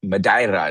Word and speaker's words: Madeira: Madiraa is how they say it locally. So, I sometimes pronounce it the the the the way they do there.